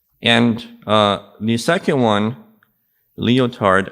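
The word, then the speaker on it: Lyotard: an Algerian French thinker and another person is leotard leotard wrote about his understanding of what postmodernism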